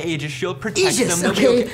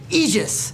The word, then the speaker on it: Aegis: as long as they ages it's pronounced Aegis it's from Greek mythology doesn't anyone do the